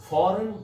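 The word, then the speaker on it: foreign: ये last lecture में भी मैंने बताया था कि वो अल्फाज जिनमें ई आई जी एन इकट्ठा आता है उनमें जी साइलेंट होता है और ये फ्रेंच से इंग्लिश में आया है।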